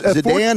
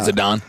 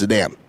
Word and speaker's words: Zidane: Yeah, this is Zidane is how you say his name. I mean, I don't know how I'm pronouncing Zidane wrong, but that's how it. It's not Zidane. That's how it's said. It's Zidane.